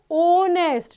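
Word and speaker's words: honest: हो तो यह क्या वोव की साउंड प्रोड्यूस करता है तो बोलते हैं ऑनेस्ट ना कि नेस्ट नहीं ऑनेस्ट सो दैट्ची here article an the word ऑनेस्ट हैज अ वोव sound ओ दो it's spelling begins with a consonant H कोई फर्क नहीं पड़ता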